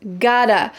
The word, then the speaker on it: got to: Got to becomes gotta.